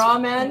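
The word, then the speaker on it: Rawmen: Oh my God, was ramen. Ramen, yeah. Spelled like raw, R-A-W, and men, M-E-N.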